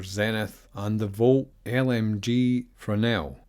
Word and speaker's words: Fresnel: and the Volt LMG Fresnel. Apparently that S is silent, according to Zach Priest, and yes, that thing looks absolutely awesome.